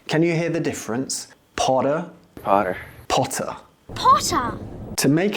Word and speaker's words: Potter: In British English, the T is clear as a pure T sound. However, in American English, it can sound a bit more like a D. Can you hear the difference? Potter, Potter.